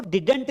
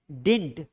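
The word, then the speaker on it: didn't: इसको डिडंट नहीं पढ़ना है, डिडंट पढ़ना गलत है, इसका सही प्रोनाउंसिएशन है डिंट।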